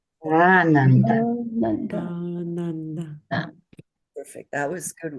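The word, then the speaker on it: आनन्द: So the colored lines again help us know that the very first syllable, which is just is pronounced long, nanda. And the second syllable, nun, and the third syllable, da, are pronounced as short notes, quarter notes, nanda.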